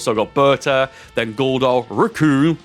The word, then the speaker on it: Recoome: got Berta then gar raccoon which rhymes with doom Captain ginu then first